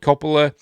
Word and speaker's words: Coppola: Michael without any of his brothers, Francis Ford Coppola, yes, that's how I pronounce it, should have admitted that the film